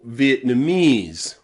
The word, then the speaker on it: Vietnamese: You'll also find this pronunciation of the letter E in words like Chinese or Vietnamese or Japanese, okay? ESE, any word with ESE, that ESE is pronounced ease, ease, okay?